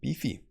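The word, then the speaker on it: BIFI: also has a token the beefy token but spelled like with an i b fi and uh market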